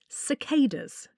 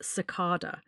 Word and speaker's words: cicada: Cicadas. That's what our American friends told us. I then double checked and the British pronunciation is cicarda. But I actually prefer cicada as that's what we heard first.